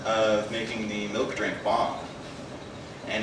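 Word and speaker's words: bhang: depicts Shiva making a drink called bomb which is spelled b-h-a-n-g it was a milk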